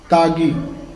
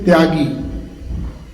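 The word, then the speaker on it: ত্যাগী: Normally the ya is not pronounced, though ya is there. You in Hindi and in other Indian languages we say tyagi.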